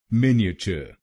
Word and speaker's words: Miniature: मिन ई अ च, मिन ई अ च, मिनिएचर, मिनिएचर। और आपको पहले शब्दांश पर यानी MIN पर जोर डालना है।